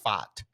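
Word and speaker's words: Pfaadt: a DT yes so I I pronounced it as fat yeah which I would assume is how a Boston person yeah says fat fart he said Boston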